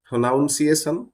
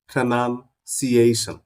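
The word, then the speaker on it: pronunciation: গুলোকে আর ভুল উচ্চারণ করবো না সঠিক ভাবে উচ্চারণ করব what's that প্রোনাউনসিয়েশন no this is নট প্রোনাউনসিয়েশন উচ্চারণ যেটাকে বলি দিস ইজ প্রোনাউনসিয়েশন দিস ইজ প্রনান্সিয়েশন উচ্চারণ করুন আমার সাথে প্রনান্সিয়েশন তারপরে এটা কাঠ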